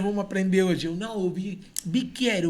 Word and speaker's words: bicchiere: Aí a pronúncia, eu falei, pô, mas é CC aqui a pronúncia, bicchiere. Aí em vez de o nosso Q, era o CC, a pronúncia muda muito.